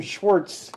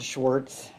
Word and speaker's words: Schwarz: Schwarz with a Z pronounced the same way.